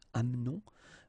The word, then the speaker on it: amenons: Nous doesn't change, nous amenons, okay, it's a silent here, mute, amenons.